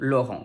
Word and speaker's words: Laurent: gram i n and we also have on which is spelled here e n in lauren there is also the